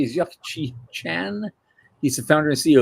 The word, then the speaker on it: Yuk Chi Chan: Our guest tonight, I want to pronounce this correctly, is Yuck-Chi Chan.